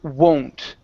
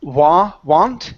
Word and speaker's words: won't: Okay, let's go to the word won't. Right here, instead of want, it's won't. So doesn't mean I won't be tomorrow.